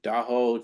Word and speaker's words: Daho: Uh so do and the way to remember it is we all heard Tahoe just just put a put a D in front of it and so you have the correct way to say it.